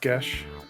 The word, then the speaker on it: Geis: It's pronounced Gesh. Yeah. Oh god, yeah. I was just about to jump in with that as well. So in case you need a refresher, Gesh is the story of a kingdom in need